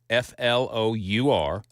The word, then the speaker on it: flour: This is Flour. Flower. And this is Flower. Flower. Okay, they both have two syllables. And the phonetic little description of the pronunciation is exactly the same for both words.